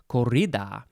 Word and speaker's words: corrida: i guess it's a corrida that they'd probably you have to probably roll the r corrida um the ball is